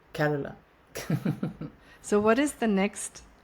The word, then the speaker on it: Carola: I I pronounce it carola car it's like Carol in English and then a in the end carola so what is the